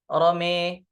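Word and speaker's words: رمى: Itu dengan memiringkan bunyi fathah, ya. Fathahnya mim. Jadi dibacanya, ya. Jadi dibaca rome, ya.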